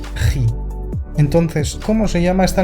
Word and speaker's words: χ: De aquí que algunos escriban así estas letras, lo que conlleva a llamar a esta letra chi, como la función chi cuadrado, que a mí personalmente me duele oírlo. Por favor, ji.